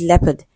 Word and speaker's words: leopard: word is leopard and e o is on the line and it is pronounced as e so the word is transcribed le and then there's awah sound which is very weak and d okay leopard so option